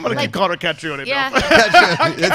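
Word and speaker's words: Caitríona: So an I-O sound together makes an E sound, so it's just Katrina. Oh. Katrina. No, it doesn't sound as exotic, right? Yeah. I'm going to keep calling her Catrione.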